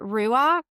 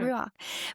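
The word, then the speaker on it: רוח: Anyway, but it's the word ruach. I'm not saying it right. Cherise, You you're are, I better at think. this. Okay, Mm. ruach.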